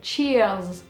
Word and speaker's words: cheers: cheese, mais en fait ça se prononce exactement la même chose sauf qu'il y a un R en fait, et il faut prononcer un peu le R, faut dire cheers, voilà, c'est santé, au